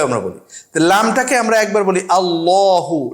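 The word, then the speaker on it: اللّٰه: বলি লামটাকে আমরা একবার আল্লাহু লামটা একটু মোটা করে বলি লিল্লাহি লামটাকে পাতলা করে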